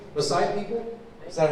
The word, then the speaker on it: Maasai: Maasai people?